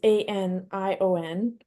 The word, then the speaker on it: anion: So anon is anion. So I did say it right, is a negatively charged ion.